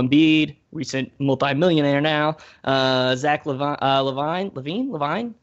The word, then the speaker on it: LaVine: Zach Levine. How does he actually pronounce it? I actually don't. LaVine.